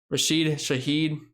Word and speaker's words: Rashid Shaheed: Chris Olave, Rashid Shaheed, that's how you pronounce his name, and Michael Thomas.